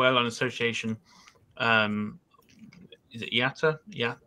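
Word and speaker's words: IATA: figures from global airline association um is it yata yeah yata could never pronounce that but yeah why not carried 128.9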